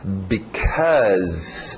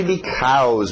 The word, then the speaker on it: because: Ok, o som do because. Nada de because.